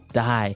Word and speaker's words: dye: Okay, dye. So it's pronounced exactly the same way as, you know, to die to not live anymore.